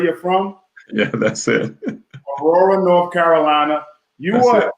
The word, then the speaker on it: Aurora: Aurora, North Carolina. Am I saying it right? That's where you're from? Yeah, that's it. Aurora, North Carolina.